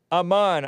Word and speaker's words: Aman: AMAN, I'm pronouncing it correctly, right?